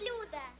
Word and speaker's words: Люда: How do you pronounce your Меня name? зовут Люда.